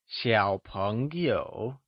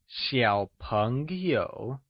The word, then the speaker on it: Xiǎopéngyǒu: a falling rising tone, Recall, that x in Mandarin is pronounced with a sh sound, thats why, Xiǎo starts with sh Can you sayXiǎopéngyǒu ? good! Xiǎopéngyǒu is often used to